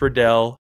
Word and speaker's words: Riddell: It's Vices, it's Riddell, it's Shut. And it's Zenith. That's how they're pronounced.